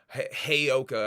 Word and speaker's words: heyoka: a little bit about the way I was pronouncing uh heyoka heyoka I believe is the the the right way to say it I might still be